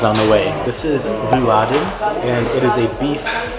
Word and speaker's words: Rouladen: It's so funny, whenever I say Rouladen, people don't know what I'm talking about because you have to pronounce it. Rouladen.